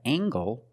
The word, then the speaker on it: angle: We have angle spelled L E making the nasal sound M and the hard G.